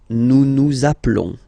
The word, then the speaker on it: nous appelons: Nous appelons. Okay, final s doesn't exist.